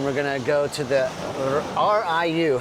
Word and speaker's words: RIU: Riu. Yeah, Riu. Riu? I don't know why. I feel like it should be Riu, but Ray, I guess the I is pronounced E.